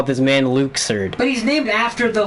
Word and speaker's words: Luxord: 10 in the organization who I've always called luxord they pronounced his name for the very first time in this game Oh No and his name is Luke surd oh god no and